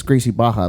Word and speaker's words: Gracie Barra: gracie barra but it's gracie baja like that's just the way they pronounce it hoist gracie helio uh horian like they're all with rs but it's pronounced with h which is really weird okay that's the way